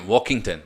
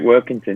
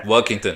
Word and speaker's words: Workington: Well, you joined Walkington, am I saying, or Workington? Well, how do you pronounce them? Walkington? Oh, yeah, you're second time. Yeah, you're right, Workington. Yeah, Workington.